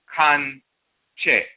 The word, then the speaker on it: Kankye: The term Kankye is vocalized in the Twi language of the Akan as Kankye.